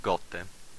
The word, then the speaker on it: gote: Letter G sounds always pronounced hard, like gote, g. Gote means drop or raindrop. You will never find it sweet like the J in generally.